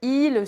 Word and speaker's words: ils: Il il alors attention, il a la même prononciation que le il au singulier. OK ? Il par exemple, ils sont sympas.